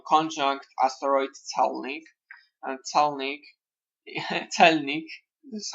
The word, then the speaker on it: celnik: North node of moon conjunct asteroid Celnik, and Celnik, Celnik, this is how we pronounce Celnik in Polish means custom official.